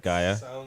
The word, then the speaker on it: Gaia: Sounds of Gaia, right? Am I I'm pronouncing it right? Gaia.